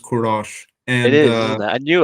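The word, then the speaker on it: Kourosh: pronounced kurosh or something yeah so it is pronounced kurosh and it is I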